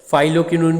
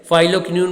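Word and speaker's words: phylloquinone: Vitamin K का जो नाम है वो काफ़ी डिफ़िकल्ट है, फाइलोक्विनोन बोलते हैं इसे। PH, आप स्पेलिंग नोट कर लीजिए, PHYLLOQUI, ठीक है, NONE। थोड़ा सा डिफ़िकल्ट है, फाइलोक्विनोन बोलते हैं इसको, अलग अलग प्रोनाउंसिएशन हो सकती है।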